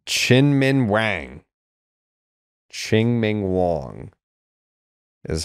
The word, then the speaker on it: Chien-Ming Wang: Wong I believe yeah I I didn't honestly think we were pronouncing either of the G's if I recall correctly but it's been a long time since I've heard someone say his name out loud Chin Ming Wong chinman